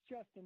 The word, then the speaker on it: JSTN: It's Justin, but it is spelled J-S-T-N.